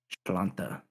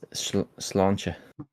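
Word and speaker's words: Sláinte: Splanta. Salute. Let's go. Trying to say it's slancha.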